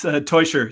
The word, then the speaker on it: Teuscher: Teuscher? It's Teuscher. So it's spelled as if it was spelled Toy. That's the way you would pronounce it.